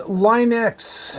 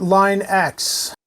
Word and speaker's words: Linux: GeoScout87 says Linux, not Line X.